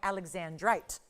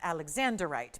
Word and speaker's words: alexandrite: And yet even though it's named for Zar Alexander, I always like to point out that it's called Alexandrite, not Alexanderite because it seems to be mispronounced all the time.